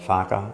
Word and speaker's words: Farquhar: It goes right back to the English fighting the Scottish, and my name's pronounced Farquhar in the castles of Balmoral and Braemar.